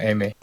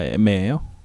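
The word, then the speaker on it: Aimer: 일단 가수 이름 애매라고 읽는 겁니다. 애매. 아, 애매예요. 예. 애매라고 읽는 거고.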